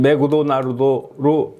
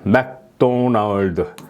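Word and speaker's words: McDonald's: 일본어에는 받침이 없는 겁니다 맥도날드를 일본 사람들은 메구토 나루도 메구토 나루도 이렇게 발음하는 걸 여러분들 우리 흉내를 많이 내죠 그런데 우리는 어떻습니까 여기는 받침이 없습니다 그죠 이게 바로 일본어 모라시 발음입니다 그러나 우리 말에는 발음이 받침이 있죠 맥도널드 여기에 이런 받침이 있습니다 우리나라는 받침이 있는 언어라고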